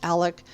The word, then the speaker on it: Alex: And I know Alex's name can be pronounced as Alec, but let's just stick with Alex for simplicity's sake.